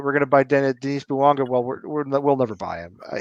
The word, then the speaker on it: Bouanga: It's Bouanga, right?